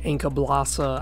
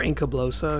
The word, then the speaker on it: Encablossa: is Inca blosa evil some people have different pronunciations some people say Inca blossa I prefer Inca blosa because Kingdom Under Fire uh Crusaders is pretty much how they pronounced it and it makes sense to me to call it Inca blosa makes sense to me